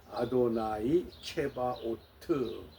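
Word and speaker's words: אדוני צבאות: 우리가 흔히 만군의 여호와 야회 체바오트 히브리 성경에 이렇게 기록이 되었지만은이 여호와 야외 이름을 함부로 부르지 않고 아도나이라고 부르기 때문에 아도나이 체바오트 이렇게 발음을 합니다.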